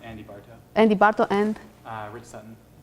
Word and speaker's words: Barto: How do you pronounce his name correctly? Rich Sutton, and then it's Andy Bartow.